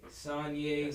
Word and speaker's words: Sanyé: on the same page Sonya sonyea like Kanye so how did it